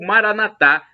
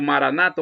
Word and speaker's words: Maranatha: na penúltima sílaba ou Maranatha como dizemos nós católicos com a tônica na última sílaba é do aramaico dialeto de Jesus Cristo significado é o mesmo sendo Maranata Maranata é de Senhor